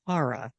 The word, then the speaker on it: Cara: her around let's just mispronounce my own character's name shame on me it's Cara and I make a